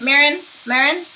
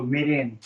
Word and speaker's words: mirin: Marin? Oh, mirin.